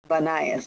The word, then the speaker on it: Banias: Today, the modern name of that site by the Arabs is Banias. They tend to pronounce it with a B.